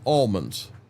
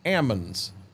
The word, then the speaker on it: almonds: they are actually pronounced Ammons. He said the L is silent.